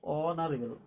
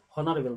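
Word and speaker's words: honourable: অনারেবল ম্যান অনারে অনারেবলের ক্ষেত্রে এসটা সাইলেন্টটা silent উচ্চারণটা প্রনান্সিয়েশনটা হচ্ছে অনারেবল অ হচ্ছে ঠিক আছে হনারেবল নয় অনারেবল যেহেতু এসটা সাইলেন্ট সেজন্য এখানে এন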